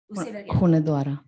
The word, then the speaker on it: Hunedoara: Located in, how do you pronounce that? Hunedoara.